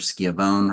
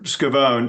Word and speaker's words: Scavone: Schiavone or Schiavone. It's Scavone, sir, and yes, 5 minutes for rebuttal, please.